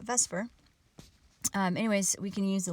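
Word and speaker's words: VSEPR: s e P are chemists just pronounce that Vesper anyways we can use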